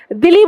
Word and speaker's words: Dili: और इसकी जो कैपिटल हो जाएगी वो DILI, ठीक है, दिल्ली से याद रख लेंगे, दिल्ली बोला जाता है इसको।